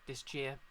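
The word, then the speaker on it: Disgaea: let's go no unless is it disji or jiscaya i pronounce it this guy as in wait this gear as in pangea anyway yep night all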